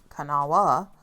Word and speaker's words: Kanawha: Our next stop is Cana Falls in Glen Ferris, West Virginia. pronounced cana and sometimes can kawa.